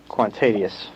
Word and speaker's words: Kwantedius: Kwantedius.